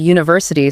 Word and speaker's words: university: But conversely, the word university starts with a vowel letter, but phonetically it begins with a hard consonant Y sound.